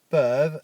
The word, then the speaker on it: peuvent: Ils or elles peuvent, again, I don't pronounce the ENT at the end, for they can.